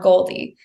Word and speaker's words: Goaldy: Okay, to Goldie. And what's behind that name? Yeah, so Goldie is spelled GOALDY, like goals.